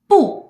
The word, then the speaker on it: 不: video and you may have noticed that I pronounced Po in different tongues in these words and that's